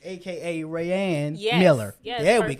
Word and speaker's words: Raeanne: Raeanne Yes.